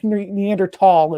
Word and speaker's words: Neanderthal: European ancestry had Neanderthal, I always pronounce the TH and I hate it. Neanderthal is the right way to say that.